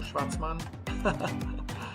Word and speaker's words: Schwartzman: Schwartzman.